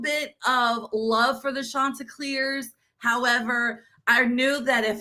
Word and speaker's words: Chanticleers: The Chanticleers.